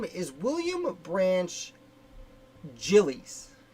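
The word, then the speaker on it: Giles: is william branch jillies that name is pronounced jillies i will be saying guiles the whole time because that's how i've always read it i only found out it was jilly's uh as i was writing this article and doing the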